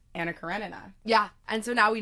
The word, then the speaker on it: Anna Karenina: Importantly, Anton told us that it's Anacarinina.